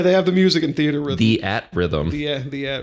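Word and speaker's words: Theatrhythm: have the music in theater Rhythm the at Rhythm the the Rhythm the is there a right way to say it it's theater rhythm is it just theater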